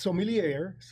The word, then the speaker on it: sommelier: With 20 plus years in the hospitality industry and as an advanced sommelier, did I say it right?